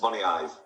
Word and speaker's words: Moniaive: Could you pronounce the name of your village, please? It's Moniaive.